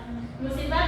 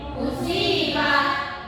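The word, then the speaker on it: مصيبة: Jadi caranya bukan musibah bacanya, tapi Musibah.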